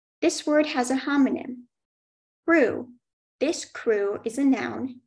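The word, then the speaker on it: krewe: And the sentence is, the crew is famous for huge floats with national celebrities.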